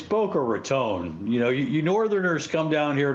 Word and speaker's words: Boca Raton: It's Boca Raton.